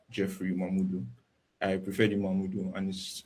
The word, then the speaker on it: Mamudu: I prefer the Mamudu and his name.